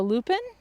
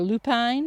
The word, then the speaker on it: lupin: Up front is a lupin, or lupine, depends how you say it.